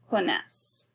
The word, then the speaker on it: connaissent: connaissez, and il, elle connaissent. Again, we don't pronounce that ENT.